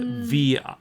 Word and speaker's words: vinyl: The V-I-N-Y-L. The I in German is E, so vinyl. But Americans say vinyl. Vinyl. Yeah, just like virus, vinyl, vinyl.